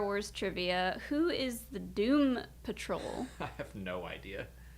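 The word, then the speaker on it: Dûm: And we named ourselves the Doom Crew. But Doom is spelled D-U-M because it's Dwarvish, like Khazad Doom. And our joke is everywhere we go, everyone's like, oh, it's the Dumb Crew.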